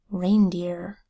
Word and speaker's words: reindeer: was their food ice word reindeer reindeer spelled with our that says a the EEI phonogram that says a end that says mmm do you that says duh double e phonogram that says e r that says earth or a mmm reindeer hey reindeer is a large